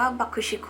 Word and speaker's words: BUCK-TICK: เป็น ค่ะ อ่ะ มี วง บัก บิ๊ก หรือ ที่ อ่าน ว่า บัก ชิคคุ เนี่ย เพื่อ ความ สะดวก